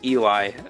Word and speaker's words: Eli: the other pronounce no the I does not make an e sound makes an i sound there you go guys